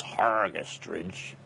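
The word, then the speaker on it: Hergest Ridge: And then after Tubular Bells came Hergestridge, or pronounced properly by the locals Hergestridge, which was a much more, sort of say, pastoral sounding album.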